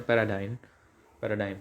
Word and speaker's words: paradigm: पैराडाइम, अब कोई पैराडिग मत बोलना, इसका प्रोनाउंसिएशन है पैराडाइम सॉरी।